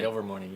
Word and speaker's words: Ilvermorny: Ilvermorny, yes.